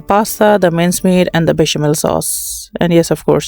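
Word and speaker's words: béchamel: Once again, I'll be preparing the bechamel sauce. Actually, I live in Sweden, so mostly we pronounce E with I, so it's like bechamel over here.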